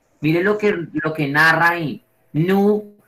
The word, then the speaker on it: nu: Nu. No se dice N, sino nu.